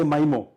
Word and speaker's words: MIMO: And the best case, MIMO or MIMO. How do you say that? I say MIMO.